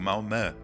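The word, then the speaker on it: Malmö: tô morando em Malmo, na Suécia, como eles pronunciam o Malman, que tem o as dois pontinhos em cima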